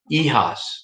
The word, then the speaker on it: hijas: Hijas, the H you don't sound.